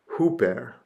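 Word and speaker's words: ὑπέρ: uh and it is a rough breathing Mark plus an oops salon and it is Hooper Hooper this preposition means above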